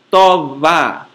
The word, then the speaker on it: tová: Pronuncia-se como o V do castelhano em huevo. É um B fricativo e não oclusivo. Isto é, para pronunciá-lo, os lábios não se fecham, apenas friccionam-se. Sua representação no alfabeto fonético internacional é a letra grega beta minúscula. Como em avá, homem, uvra, árvore, e tová, rosto.